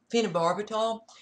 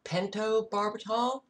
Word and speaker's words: pentobarbital: cats were dying from what I always pronounced as phenobarbital it is pentobarbital maybe I was pronouncing it wrong I don't know a